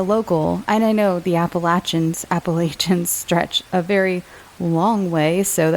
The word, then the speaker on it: Appalachia: I did want to address my pronunciation of Appalachian. I was told years ago by someone from West Virginia that that's how they say it, as Appalachia, not Appalachia, which is the way I grew up saying it, the Appalachian Mountains.